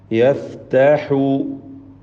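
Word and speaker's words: يَفْتَحُ: യഫ്തഹു യഫ്തഹു ഹാഇൻ്റെ ഉച്ചാരണമാണ് ശ്രദ്ധിക്കാനുള്ളത്. പ്രത്യേകിച്ച് തൊണ്ടയുടെ മധ്യം വസത്തുൽ ഹൽഖാണല്ലോ ഹാഇൻ്റെ മഖ്റജ്.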